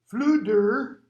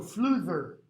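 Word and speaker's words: Fflewddur: flute or flam flooder notice i'm pronouncing the d's as a d if it were welsh and you've got a pronunciation thing at the back so i'm pretty sure it should be the in that or the not like the thin so fluther from um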